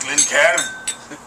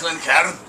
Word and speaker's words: Glencairn: It's pronounced Glencairn. And It's Glencairn.